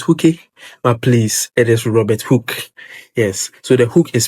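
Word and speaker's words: Robert Hooke: Others to say Robert Hook but please it is Robert Hook. Yes. So the hook is spelled H O O K E.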